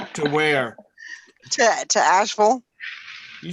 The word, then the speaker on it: Asheville: that right where to Asheville you said it right I know I'm like yeah because you usually say people say Asheville asked me you know but it's actually actually like Louisville yeah you know you